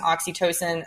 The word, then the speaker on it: oxytocin: It's more based in oxytocin. Am I pronouncing it correctly? Yes. Yeah. Okay. Yeah. It's more based in oxytocin, the love chemical that